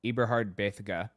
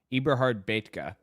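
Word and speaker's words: Eberhard Bethge: Ibrahard Bitha or no, Ibrahard Betka. That's how it's pronounced.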